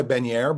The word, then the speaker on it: Benyaer: Yeah, I go by Benyaer, but that's the definite old school pronunciation.